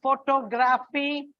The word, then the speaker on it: photography: There is a shift in the stress marking. Like in the photograph, it's on the first syllable. Photographer, it is on the second syllable. And photography, you will find it is on the third syllable.